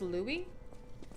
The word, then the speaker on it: Louis: Well, then it's spelled Louis, pronounced Louie.